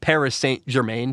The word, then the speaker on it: Paris Saint-Germain: I'm going to try to say it like the French way. Paris Saint-Germain. It's Paris Saint-Germain, but I think it's Paris Saint-Germain. Paris Saint-Germain is how you say that.